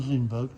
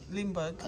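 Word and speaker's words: Lindbergh: how do you say in Li lber Char Lindberg Lindberg not no yeah became famous overnight when he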